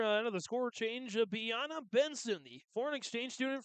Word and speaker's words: Biana: German foreign exchange student, Biana Benson. Biana Benson comes on to kick it. Eric Olsen, head coach, prior to the game saying, You pronounce his names like a combination of Beyonce and Rihanna.